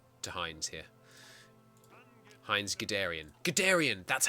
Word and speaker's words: Guderian: Guderian!